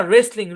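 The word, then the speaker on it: wrestling: মানে লেখা তাই না রেসলিং রেসলিং মানে কি রেসলিং মানে কুস্তি দেখেন ডবলিউ আর একসাথে আছে ডবলিউ সাইলেন্ট চলেন তারপর দেখি তবে শব্দের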